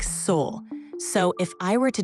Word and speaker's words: Sol: Or you say soul or Saul, or how do you say your name? I say it like soul.